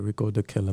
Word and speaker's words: Rickodukilla: like how it looks so okay so proper pronunciation is the killer yeah okay all right rico the killer man um i was thinking maybe that was